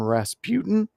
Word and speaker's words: Rasputin: Rasputin is that's that's how you say it, right?